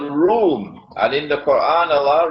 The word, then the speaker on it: روم: It is pronounced as R-O-O-M, Room, but the Arabic word Room is, it describes Eastern Christianity.